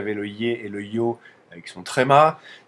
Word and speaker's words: Й: qu'il y avait le y et le yo avec son tréma ici il y a le il y a le ye donc ça c'est le ye quand il y a